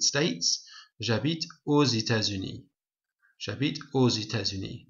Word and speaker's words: aux États-Unis: Now we say ou, this X becomes a Z sound because there's a vowel here, but normally it's just pronounced ou. Okay, but we make a liaison here, it's called a liaison, and then X becomes a Z sound, so aux États-Unis.